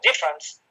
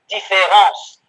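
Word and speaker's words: différance: is heard, so that people in English say différence rather than difference, which is the way in which the word should be pronounced in order to make the point.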